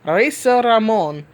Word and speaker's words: Razor Ramon: I want to say it like the way Howard Finkel used to say it, rolling the R's. Reza Ramon, oozing machismo picture that I used in the Captain Marvel #1 review.